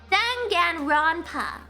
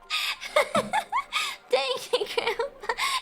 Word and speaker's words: Danganronpa: Danganronpa. How do you say that? Danganronpa. How do you pronounce that? Danganronpa. I don't like it. I don't. Dang it, Grandpa. You said it right the first time.